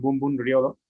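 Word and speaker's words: 文武両道: kanjis que significan, bueno, se pronuncian Bum Bum Ryodo y significan la espada y el estudio van de la mano o van sobre el mismo camino.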